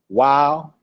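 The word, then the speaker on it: ו: bit giml dalet hey wow remember on my last chart I was like it said wav and I told you to pronounce it wow are you there Moray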